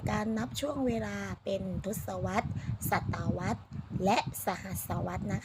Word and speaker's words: ทศวรรษ: รถ Swatch นะ คะ คำ นี้ อ่าน ว่า ทศวรรษ นะ คะ พี่ บิ๊ก เขต 5 ภาษา อังกฤษ